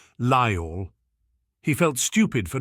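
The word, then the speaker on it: Lyall: She was Welsh, he recognised the accent now, the way she spoke his father's name in 2 gentle syllables, Lyle.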